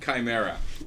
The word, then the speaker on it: Chimera: Let it be known from here on in, it is pronounced Chimera.